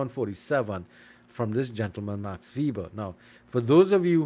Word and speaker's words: Max Weber: 47 from this gentleman Max vber now for those of you who say Max Weber remember Max Weber was German and in Germany the W's are pronounced with a with a V inflection so and why he